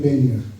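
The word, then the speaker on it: Badenoch: you know, I took my pronunciations from a hill farmer in Abernethy who was brought up in Rothiemurchus and was a really good Gaelic speaker. And he called it Bainioch.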